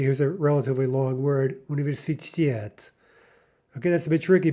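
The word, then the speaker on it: университет: The correct version is universitet, universitet, with the stress on the final syllable.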